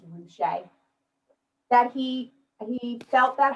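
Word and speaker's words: Ruscha: name is ed roushay the way you say his name is ruche that he he felt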